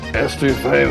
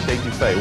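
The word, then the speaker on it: étouffée: I want some estouffee with crawdads. What Bubba's trying to say is crawfish etouffee, one of our most popular Cajun dishes.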